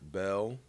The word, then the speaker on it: Bell: Martin Ethan Connor Mark Hendrick Bell it looks like it's spelled bill but you say it Bell Blake Austin Raymond Cuts